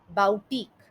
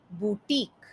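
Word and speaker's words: boutique: Usually आप जब लोगों को देखेंगे तो बुटीक का गलत उच्चारण इस तरीके से किया जाता है, बाउटीक। पर बुटीक का सही उच्चारण इस तरीके से है, बुटीक।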